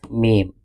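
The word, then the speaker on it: م: show you origin of meem prounce letter mem by joining both lips together pronounce letter meme by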